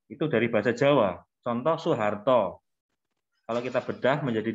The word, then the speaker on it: Soeharto: Kalau kata Soeharto tadi kan pakai SOE, Pak. SOE. Iya, tapi dibacanya Su, Mbak.